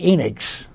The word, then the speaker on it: Enix: that for many reasons Charlie Enix rhymes with Phoenix Taylor Morris builder of